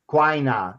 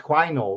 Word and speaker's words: Quainor: Quainer. Well, really, it's pronounced Quainor. Really, there's an OR there, isn't there? Yeah, it's an OR.